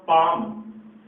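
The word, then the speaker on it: palm: Word लिखा है पाम, इसमें एल है वो साइलेंट है, यानी एम से पहले जब भी एल आता है वो हमेशा साइलेंट रहता है। तो ये वर्ड है अपना पाम।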